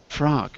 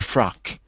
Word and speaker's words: frog: we used Daniel oh frog okay frog got it frog not frog frog but frog H yeah you got to get the G sound a little more soft because it sounds like frock frog is a dress yeah